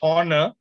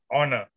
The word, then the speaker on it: honor: And I pronounced it as it's a honor. And you came after the meeting and told me, Ravi, H is silent. It is honor.